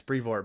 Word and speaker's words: Brevoort: Cebulski and then Tom Brevoort. Brevoort, yeah. I remember you saying that during the bonus episode, like, Badr, it's Brevoort.